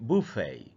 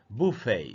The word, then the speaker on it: buffet: उसके बाद जो वर्ड है दोस्तों BUFFET, और इसको पढ़ना चाहिए एक्चुअली बुफे, बुफे। ये फ्रेंच लैंग्वेज का वर्ड है, इसका मीनिंग होता